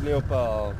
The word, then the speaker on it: léopard: Tortue léopard. T-O-R-T-U-E. Tortue. Leopard, same as leopard in English, spell it the same, just pronounce it differently.